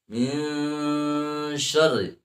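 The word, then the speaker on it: من شر: Min syarri, itu dibaca ikhfa. Ikhfa itu harus ditahan dulu. Belum masuk hukum baca ikhfa kalau dibacanya langsung. Min syarri ma khalaq belum masuk, walaupun ada ng atau eng. Tapi membacanya min syarri ma khalaq tidak ditahan dulu. Harusnya min syarri ma khalaq. Min syarri ma khalaq. Ya, sudah mendengung, maka itu sempurna membaca ikhfanya. Ya, sering kita membacanya tapi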